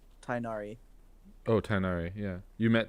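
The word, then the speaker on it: Tighnari: the bad guy tag nagari or whatever who you have to say it first I don't know how to say it the bat dude no it's like tinari oh tinari yeah you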